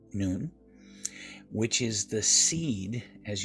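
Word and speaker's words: nun: then in the noon sometimes you might hear it said none but it's actually pronounced noon which is the seed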